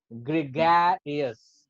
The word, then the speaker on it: gregarious: It's gregar, ग्रेर पे थोड़ा ज्यादा फोकस होगा. ग्रेगरियस, ग्रेगरियस, ग्रेगरियस, ग्रेगरियस, ग्रेगरियस. इट्स नॉट ग्रेगरियस, इट्स ग्रेगरियस. थोड़ा सा अप डाउन होना चाहिए, नहीं तो वो कहाँ